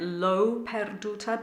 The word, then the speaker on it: L'ho perduta: It's always going to be O, and the H is silent. 1, 2, 3, 4. L'ho perduta, me meschina. So perduta, the du is the important syllable.